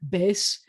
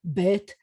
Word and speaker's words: bet: have a s sound, so it would be like bes instead of bet. But in modern Israeli pronunciation, we will always do the, I got to take that out. We will always have the t sound, whether it has a dot in it or not. And then I was going